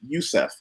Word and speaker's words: Yusef: Yusef, and people ask, well, how do I pronounce it? I said Yusef.